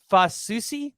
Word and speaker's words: Fasusi: five-star offensive lineman, Michael, and you said it's Fasusi? That's how it's pronounced?